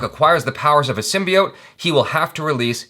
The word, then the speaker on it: symbiote: When Eddie Brock acquires the powers of a symbiote, he will have to release his alter ego, Venom, to save his life. Symbiote?